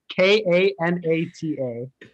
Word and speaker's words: Kanata: No, so this one is Kanata, which is in Canada.